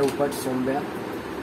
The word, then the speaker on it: Oopatsombhya: मेरा नाम है, और अपना चैनल है ऊपर सोम्बिया, पूरा स्पेलिंग टफ है आपके लिए, प्रोनाउंस कर देता हूँ, WOPATSOMBHYA।